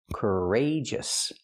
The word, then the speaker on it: courageous: We see the stress is on the second syllable. Rage. Courageous.